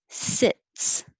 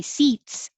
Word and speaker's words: sits: a d 12 sits the important thing is the vowel so the i is a little lower than the e if you say seats it sounds like s-e-a-t-s like these seats are saved instead of sits she sits all day